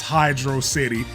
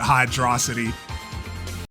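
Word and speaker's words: Hydrocity: There are people out there still vehemently denying that it's Hydro City.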